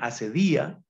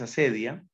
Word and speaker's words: acedia: el corazón la acedia unos también acentúan acedia pero la pronunciación más común es acedia la acedia es una